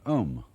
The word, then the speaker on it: Om: One of the basic mantras is, of course, the sound Om. That sound is used because if you spell it out, A-U-M, it runs from the back of your throat to your lips, and therefore it contains the whole range of the voice.